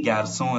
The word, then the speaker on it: garçons: For example, le garçon or un garçon, les or des garçons is the plural form. We just add an s, but we don't pronounce it.